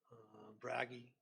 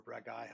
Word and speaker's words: Bragi: Some of them taken from actual real world mythology as well, like Hel, Hecate, Druaga, Bragi, or Bragai, however you like to pronounce that.